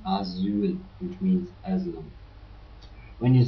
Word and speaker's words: Asyl: And also when you spell one S, you pronounce it hard, like in Asyl, which means asylum.